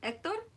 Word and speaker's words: Hector: I didn't know the H in Hector is silent. Hector?